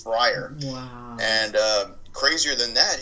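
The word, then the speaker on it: Fryrear: name is friar and it's uh spelled f-r-y-r-e-a-r and that's pronounced friar and there's a website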